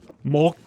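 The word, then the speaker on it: 木: Mok. There was a silent K at the end, so mok. Or mok, something like that.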